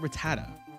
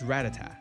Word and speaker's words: Rattata: Why is it Rattata? It's not Rattata. It's It's Ratat because then you have Radicate. It wouldn't be It wouldn't be like a reticate like Rattata Reticate.